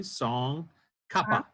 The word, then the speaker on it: Tsong Khapa: Tsong, Song, or think of Song, Tsong Khapa, like Frank Capra without the R.